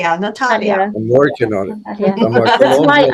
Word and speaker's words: Nataliia: Natalia or Natalia Natalia Natalia you need to pronounce correctly Natalia I'm working on that's why I have in